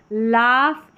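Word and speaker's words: laugh: अब यहां पर देखिए लाफ इनफ। यहां पर फ जी एच को फ और नाइट में जी एच जो है साइलेंट है। नाइट में जी एच के बाद टी आ रहा है ना तो वहां पर साइलेंट है।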